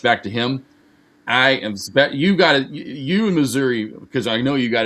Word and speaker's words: Missouri: Missouri, that is the state I live in. But if you talk to the people in the southern part of Missouri, it's Missouri.